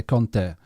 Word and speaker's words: Conte: a lot of people say actually i say kante but actually yeah the the italians would say conte and a lot of but i've heard a lot of italians pronounce it like that um but yeah so